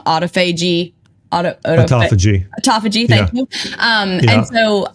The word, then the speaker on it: autophagy: so basically I can get into I always pronounce this wrong autophagy aagy autophagy thank you um and so I'm really looking